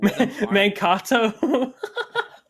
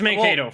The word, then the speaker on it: Mano: I could see Manto maybe getting up to top two, but the fact that Manato, sorry. Sorry. Uh I just thought that pronunciation was very funny. It's Mano for reference.